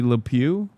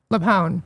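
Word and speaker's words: LuPone: Why are people mad at Patty Lew? Leone.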